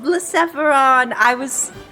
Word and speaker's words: Blacephalon: We even have the pronunciation for you! Thank you! Blacephalon.